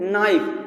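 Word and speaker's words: knife: नाइफ। तो यहाँ पे ध्यान से देखिए, के शब्द आया है। के शब्द साइलेंट है, उस से मतलब नहीं है, इसकी हिंदी ध्वनि देखिए, बस हिंदी।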